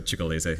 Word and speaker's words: Cicalese: Well, the district court here cited, I don't know if you pronounce it right, Cicalese. So the district court- I used to speak Italian, so Cicalese.